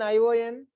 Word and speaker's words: ion: It's monosyllabic word. So if there is only one syllable, you stress only that syllable. Ion. That's it.